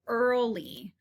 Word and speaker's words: early: to be the word early so again even though it's spelled with an e a r it sounds like er and not ear so early is going to be